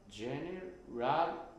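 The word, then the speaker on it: general: ジェラルブルーうんうんジェネラルジェネラルジェネラルジェネラルここにアクセントあるな違うジェラルえっと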